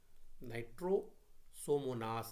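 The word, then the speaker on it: Nitrosomonas: नाइट्रोसोमोनास इज a nitrifying, नाइट्रोसोमोनास है pronunciation मैंने भी गलत कर दी।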